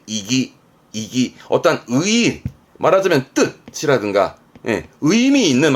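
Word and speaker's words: 意義: 발음은 이기.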